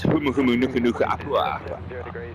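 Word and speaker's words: humuhumunukunukuāpuaʻa: and I've spent the last 24 hours perfecting the pronunciation of the Hawaii state fish, which is humu humu nuku nuku apua.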